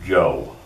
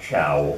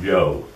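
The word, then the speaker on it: Chou: The most books about China continue to use this spelling, where CH is pronounced J. So that's pronounced Joe, not Chow or Cho, but Joe.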